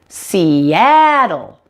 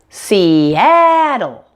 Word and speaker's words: Seattle: she but C now the word Seattle has 3 syllables and the middle syllable that ah is the primary stress syllable so it sounds like this Seattle Seattle make sure the a sound is much louder and longer than the other two syllables around it now the most difficult